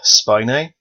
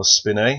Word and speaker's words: spinae: Erector spinae, or spinae, however you want to pronounce it. Use my Quizlet game to help you, but you can pronounce it either way.